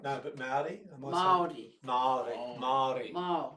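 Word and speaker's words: Māori: So who are we as Australians through the lens of a Maori grandmother?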